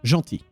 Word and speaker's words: gentil: Okay, so, as I was saying, we have the word gentil, to say nice. First of all, it has a silent L.